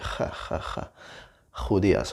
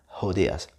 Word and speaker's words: judías: That is just because even though it's like a like from hello with an like the H sound in English, it's just a little bit more strong than that. Okay, it's a bit stronger. So it's like judías, judías. But if you really struggle to make that sound, it's perfectly fine if you just make it like the ones you are used to, like hello, judías, judías, judías.